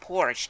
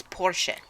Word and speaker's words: Porsche: like saying you know commercial it's carpaccio goddamn pronounced in the correct way for the language and it's not Porsche its Porsche yeah that's right so hey ads on what's